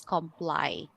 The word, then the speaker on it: comply: So again the pronunciation of this is comply not completely. Okay because this is actually a common misconception that l y is always pronounced as lee.